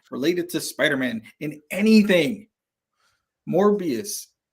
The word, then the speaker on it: Morbius: to Spider-Man in anything morbius or Mobius sorry nothing Craven it you said it right the first time because it was morbid